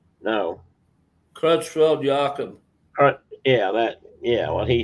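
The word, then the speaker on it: Creutzfeldt-Jakob: Yakov? No. Crutchfield-Jakob Yeah, what he said.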